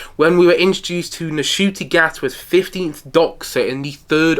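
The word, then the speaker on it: Ncuti Gatwa: It's not Ncutti Gatwa, it's Ncutti Gatwa. I saw him say that on an Instagram post a couple of weeks back, when we were introduced to Ncutti Gatwa's 15th Doctor in the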